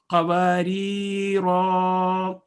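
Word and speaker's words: قَوَارِيرَا: اسی طرح سورہ دہر میں قواریرا کا لفظ آتا ہے 2 دفعہ، تو اس میں جو پہلا والا ہے وہ کنٹینیوٹی میں آ جاتا ہے تو الف نہیں پڑھا جائے گا.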